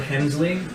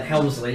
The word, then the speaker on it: Hemsley: Another $5 from Edward Hemsley. It is indeed Hemsley rather than Helmsley.